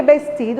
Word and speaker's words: vestido: Lembrando que vestido, a gente fala vestido, porque a letra V em espanhol tem a pronúncia do B mais suave, não esqueça.